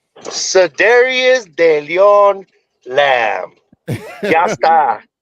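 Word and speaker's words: Cedarian: Yeah, so Dario, we gotta let Mikey pronounce his name correctly. Mikey, what's the name? Cedarius de Leon Lamb.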